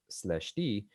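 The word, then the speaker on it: ∂̸: a slash in it it's pronounced slash d and it just stands for d mu gamma mu this is called the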